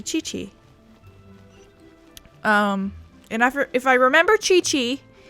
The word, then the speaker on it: Qi: I keep forgetting that in Chinese, a Q is a chi sound or a ch, because that's why kui or kiki or however you mispronounce it is actually chi.